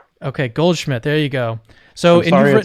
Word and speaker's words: Goldschmidt: Is that the correct way to pronounce your name? That's correct. Okay, Goldschmidt.